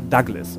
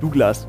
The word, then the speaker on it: Douglas: Ja, es wird auch offiziell, also auf Wikipedia steht zumindest offiziell, dass die Aussprache, die, Aussprache dann, ja. die Lautsprache, dass, ja. Dass es Douglas ausgesprochen wird.